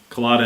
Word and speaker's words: Culotta: you often cheese because your last name rhymes with Velveeta well colada and they'll be that don't rhyme so now uh yeah I do k'la tuck they'll be tough yeah those don't rhyme wow that's probably just